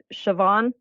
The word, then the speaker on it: Siobhan: you if I don't but it's shavon so it's like SH and then pH is V thank you Irish people hate me siobhan god yeah thank you